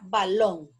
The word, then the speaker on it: balón: Por ejemplo, la palabra balón. Balón. Lleva la sílaba tónica en long.